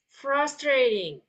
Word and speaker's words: frustrating: Okay, so when you pronounce the T, you don't have to be like a hard T like that, okay? Jadi saat pelafalan yang ini frustrating, okay? Nah, T-nya itu jadi kita kalau saat mengucapkan itu T-nya itu kita ganti pakai D gitu.